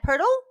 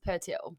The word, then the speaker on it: Pertle: we've heard before, Pertle. Is that correct? And how do I say it correctly? Okay, not like that. It's Pertil. Pertil. Just like Very, yeah. Pertil. But everyone says Pertle.